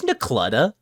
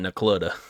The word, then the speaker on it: Necluda: It's Necluda. Nicoletta? Shut up. I don't care. Welcome I to don't even. Ask People around there. People around here call it Necluda.